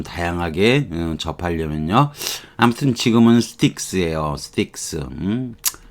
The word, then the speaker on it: Styx: 대문자로 써서 STYXS X입니다. sticks. sticks. 참, 뭐, 이런 거, 여러분이,